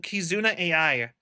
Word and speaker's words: Kizuna AI: But like pronounced I is a Japanese name. Her name is Kizuna. I not kazun kizuna ai. It's kazuna. I is a name. It's an actual like famous Japanese name.